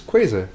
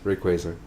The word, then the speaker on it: Rayquaza: the other one was it's quasi not quasi the first person i've ever heard pronounce it that way it the the official brother chase is rayquaza because it's uh like a quasar right huh i'm never